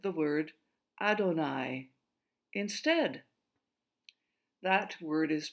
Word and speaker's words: Adonai: So, every time the ancient Jews came across the name Yahweh, they always said the word Adonai instead. That word is pronounced Adonai.